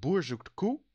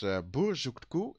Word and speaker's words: Boer zoekt koe: But this is Boer zoekt koe. That's the Dutch pronunciation. And it's Boer zoekt koe.